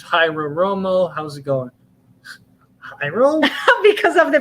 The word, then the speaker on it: Jairo: Jairo? Because of the pronunciation. You mean gyro, right? Oh, Jairo, like Jairo Romo.